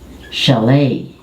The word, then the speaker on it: chalet: And this one, again, French influence, the CH become SH. So, and you drop the T. Chalet. If in the Philippines, Filipinos have nipa huts, in Europe they have chalet, which is a one-room wooden house.